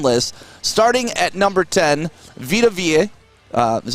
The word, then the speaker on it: Vita Vea: These are for all second-year players, and if we go through this top 10 list, starting at number 10, Vita Vea.